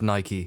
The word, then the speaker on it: Nike: for those of you who aren't aware it's pronounced Nike that's right I'm getting all high and mighty